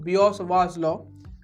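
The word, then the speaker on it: Biot–Savart law: in the shepherd's pie it severed slope actually pronounced biot-savart law some people have an issue with that so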